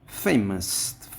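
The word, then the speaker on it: famous: ফেমাস, ফের পরে আমরা স্ট্রেস করব।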